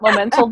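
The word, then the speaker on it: Momental: yeah you can find us of course at mo mental designs com it's the word moment with an Al on the end it's always mispronounce but moment old designs calm and just dive in that's where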